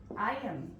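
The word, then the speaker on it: iron: নেই, একেবারে 100% pure আয়রন, আয়রন, তাই না, সঠিক উচ্চারণ, আগের উচ্চারণ ব্রিটিশরা করে না।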